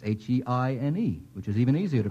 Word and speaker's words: Heine: Well, it's H-E-I-N-E, which is even easier to pronounce.